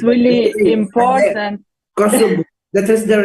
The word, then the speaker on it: Kosovo: Kosovo. That is the right pronunciation of Kosovo.